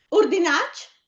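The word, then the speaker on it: urdinàc: Urdinac? Urdinac con l'accento grave sulla A.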